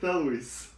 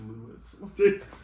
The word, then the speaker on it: Thewlis: Thewlis is toothless when he's speaking.